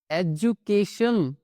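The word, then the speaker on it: education: इन तीनों ही कॉम्बिनेशन में जो हमारा डी है वो ज की आवाज निकालता है।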